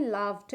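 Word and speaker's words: laughed: ये हमेशा याद रखिएगा जब भी किसी वर्ड में अगर आपको जीएच इकट्ठा मिलता है तो वहां पे वो जीएच साइलेंट होता है अदर क्रोस लाफ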